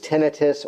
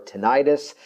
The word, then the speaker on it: tinnitus: in a related category depending on the pronunciation sometimes referred to as tinnitus or tinnitus a ringing or actually